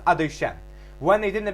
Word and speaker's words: Adoshem: When we say the Birkas Kohanim, we have the Shem Adnos Yudke Vavke, which we pronounce Adoshem.